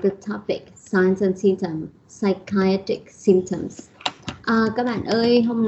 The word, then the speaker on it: psychiatric: An adjective is psychiatric. Psychiatry, the stress is on the second syllable, but psychiatric is on the third syllable.